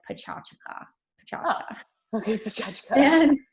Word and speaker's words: Pecha Kucha: It's actually it's spelled like it would be pronounced Pecha Kucha, but the correct pronunciation is more like Pecha Kucha.